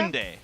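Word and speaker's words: 순대: Sundae.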